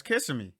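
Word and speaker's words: Kissimmee: we'll be out there how is it pronounced it's not kissing me you can see me kissing me yeah it's kissing me kissing me so what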